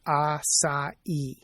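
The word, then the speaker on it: açaí: Now that's spelled a c ai but evidently pronounced asai with the emphasis on the last salab.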